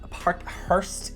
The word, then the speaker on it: Parkhurst: delaware boot from parkhurst sounds ridiculous for my accent it's park hearst is how i would be pronouncing that if i had a better accent uh the delaware booth from parker's not many people know